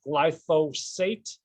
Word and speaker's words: glyphosate: It is pronounced glyphosate, not glyphosate or glyphosphorus or anything like that.